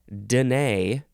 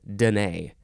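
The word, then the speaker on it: Dené: the next word is Danae or Danae but the emphasis is still on the second syllable this is spelled capital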